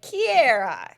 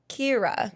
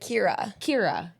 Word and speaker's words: Kira: an accent thing, but you guys kind of pronounce it like Kiera, like something like that. That might be my Southern girl. I think it's a Southern thing because it's really just Kira, like Kira.